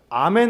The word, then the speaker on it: 아멘: 이런 뜻이에요 그러니까 아 에이멘 할 필요없이 아멘 하시면 됩니다 왜냐하면 왜냐하면 예수님 시대 사람들이 에이멘 했을까요 아멘 했을까요 아멘 한 겁니다 당시 알아 모르나 매니 맞아요 그 영업 미국 사람이 그게 안되니까 잘못된 발음 이에요 조금 다른 얘기긴 하지만